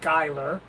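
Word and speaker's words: Schuyler: Mountain yeah known as Skyler Virginia it's spelled funny it's spelled s c h u y l e r but it's pronounced Skyler and it is so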